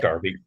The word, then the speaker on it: derby: come and most importantly is it deres or darbies Tim how do you say it it's Darby it's Derby Darby day is a derby